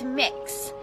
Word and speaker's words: Mix: It's Mix. So kind of like cookie mix or mixing bowl, that sort of thing. That's how it's pronounced.